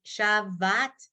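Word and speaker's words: שָׁבַת: And how you'd know that is if you were looking at it instead of memorizing it and thinking the word is Shabbat. Then you'd say, ooh, I've been saying it wrong all this time.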